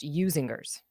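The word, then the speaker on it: Usinger's: gal but either are fine but it's it's pronounced usingers guy what you should do is watch a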